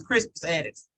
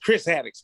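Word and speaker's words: Crispus Attucks: Yeah, his name was Crispus Addicks. Yeah, you said it right. That's him. I guess you was in the wrong, Jason. She's like, niggas, Chris Addicks, nigga. No, it's Crispus.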